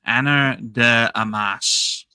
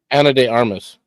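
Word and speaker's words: Ana de Armas: Uh, Anna de I can never pronounce her damn name. Anna de Amas. Anna Deamas. I don't know if that woman Anna de Armas.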